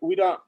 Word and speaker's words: Uira: Oriwira means Ori means to dance, and Uira, the V is silent, as the way I was taught, and was given the name by Uncle Tetu.